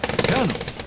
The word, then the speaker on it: Colonel: Before we get into Dave Thomas's fascinating story, let's talk about why Colonel is pronounced Colonel, shall we?